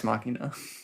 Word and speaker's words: machina: Yeah, it is very doex machine. Uh what what is wild pronunciation?